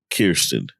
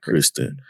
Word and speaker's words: Kirsten: But overall, I like the trajectory that Shaquille and Kirsten... That's her name. That's how you say it. I be wanting to say Kristen, but we know it's not Kristen.